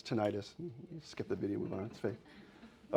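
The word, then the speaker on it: tinnitus: mode stimulation to soothe tinidis. That's how you can tell um AI because they don't pronounce things right. Immediately you can tell tenitus. That's it's tenitis.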